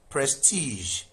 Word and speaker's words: prestige: Prestige. So this is not prestige. The underlying sound is not J but prestige.